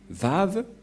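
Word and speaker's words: וָו: Vav. Et la prononciation, c'est V as invoque. C'est-à-dire que c'est V la bonne prononciation.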